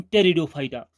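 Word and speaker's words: Pteridophyta: आप कहते हैं जिन-जिन टेरिडोफाइटा पी साइलेंट है पीटीआरआई मोड स्विच दिए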